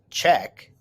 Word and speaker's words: Czech: to prague in the czech republic the czech pronounced czech republic is a country on the continent of